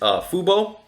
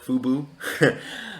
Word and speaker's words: fubo: i really like is fubo or as i like to call it fubu um that's just me mispronouncing the stock uh so fubo we